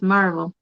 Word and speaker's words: Maryville: Now we Oh, got a place called Maryville, but Marville. We call it Maryville. You don't say Mary, it's Maryville. yeah.